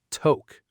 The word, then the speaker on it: toque: It's the word toque. Ah, yes, the toque. This one can be tricky because of its spelling. It's spelled t o q u e.